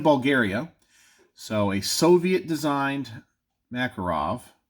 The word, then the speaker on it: Makarov: Jack we have two makarovs so one is in 380 ACP it's this one here made in Bulgaria so a Soviet designed Makarov or marker off I guess it's Makarov yeah it's Makarov I don't want to